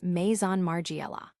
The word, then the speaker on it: Maison Margiela: Mason Margiela often gets simplified to Margiela but the proper way is Maison Margiela.